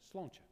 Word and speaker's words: Sláinte: And just to say, you may not be able to pronounce this word, Sláinte care. It's actually the word that we, Sláinte is good health, and it's what you say when you have a drink. Okay, so you say Sláinte, okay?